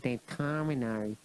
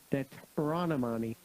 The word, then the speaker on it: Deuteronomy: Determinary. Not determinary. Deuteronomy.